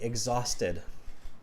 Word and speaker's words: exhausted: exhausted just copy me exhausted exhausted egg like an egg like uh like the food egg exhausted exhausted much better